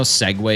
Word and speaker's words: segue: You guys know segue is spelled S-E-G-U-E?